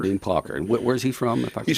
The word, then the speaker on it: Plocker: How's it pronounced? Dean Plocker. Dean Plocker.